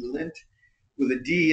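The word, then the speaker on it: Lindt: belly button lint no l i n DT lint with a D in there I can't pronounce that I tried though so they have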